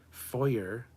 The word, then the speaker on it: foyer: Foyer is wrong. You don't say the R. It's a foyer.